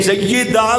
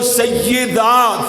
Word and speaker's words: سیدہ: نے پڑھ لیے۔ ادھروں سیدہ فاطمہ، سیدہ نہیں کہنا، سیدہ یاد نیچے زیر پڑے گا تے پھر تلفظ نکھرے گا، خوبصورتی پیدا۔ سیدہ فاطمہ